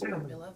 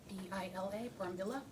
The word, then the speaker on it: Brambilla: My last name is Brambilla. is my previous name. Tell me, how do you say it again? The last name, B-R-A-M-B-I-L-A, Brambilla.